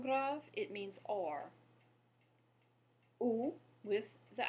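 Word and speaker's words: où: Ou with the accent grave has the same pronunciation, but the word now means where.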